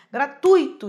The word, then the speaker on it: gratuito: Gratuito de tom, coisa boa de tom, ruim separado, hiato, gratuito. Então a sílaba tônica aí é o ui, é o tui, né? E não só o i.